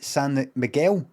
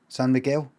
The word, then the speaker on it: San Miguel: wrong son sam miguel you say santa miguel san miguel is it what do